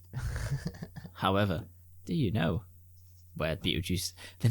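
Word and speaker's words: Betelgeuse: it's pronounced Beetlejuice.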